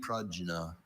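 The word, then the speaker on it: prajna: Are there any alternate pronunciations for the word only? Pragna.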